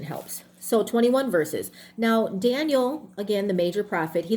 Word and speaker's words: Daniel: Okay, so Dan, D-A-N, the long A, Dan, stands for judge. And Elohim is for God. So Daniel, right, is how it would be pronounced.